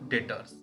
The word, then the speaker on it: debtors: लिखा है डेप्टर्स लेकिन पढ़ते हैं इसको डेटर्स, बी साइलेंट होता है।